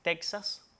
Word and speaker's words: Texas: Y esta X suena entonces como J en esos tres topónimos arcaizantes, o sea, topónimos que en un pasado mantuvieron esa X etimológica y su pronunciación es como J.